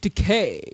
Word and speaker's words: Takei: George Takei is funny. George Takei. It rhymes with gay.